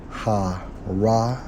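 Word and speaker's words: הר: pronounces ha ra or har which means Hill Mountain hence mount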